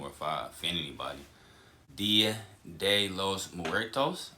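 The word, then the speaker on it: Día de los Muertos: Dia de los Muertos, I believe it's pronounced.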